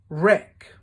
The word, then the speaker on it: wreck: it just packed up silent W answer wreath wreck sword wrong right can you think of any